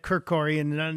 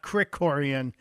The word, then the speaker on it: Krikorian: mispronouncing as a guy who gets his name mispronounced all the time I'm embarrassed I said kiroran not Crick Coran I will uh will my mother's mother my